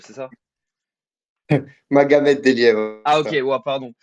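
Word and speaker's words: Magomed Deliev: Alors, est-ce que je prononce bien? C'est Mengemed Deliev, c'est ça? Magomed Delia, Ah, ok, ça.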